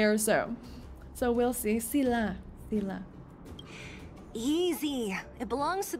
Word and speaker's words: Thiel: After being away for 1 week, I forgot how to pronounce Thiel's name. So, and I know it's not Thiel.